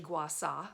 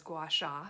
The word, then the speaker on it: Gua Sha: my Gua Sha now the proper way to say it is actually Gua saw but everyone says Gua Sha so I'll just refer